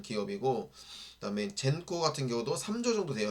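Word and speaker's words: Xencor: 젠코, 네, 젠코라고 읽네요.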